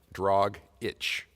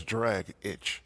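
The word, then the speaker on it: Dragić: a lot I agree I always thought it was tragic had dragic like drog itch where it says d-r-a-g-i-c that's drag itch yeah or drogic as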